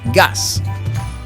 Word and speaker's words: gas: coresa terrest gas in Spanish is said Gus they are spelled the same and pronounced very similarly now we draw the